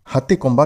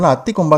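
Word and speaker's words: Hathigumpha: முதல்ல ஹத்தி கொம்பா கல்வெட்டு. இதை தமிழ்ல அத்தி கொம்பா கல்வெட்டுன்னு சொல்லுவாங்க. ஆனா சரியான உச்சரிப்பு ஹாத்தி கொம்பா.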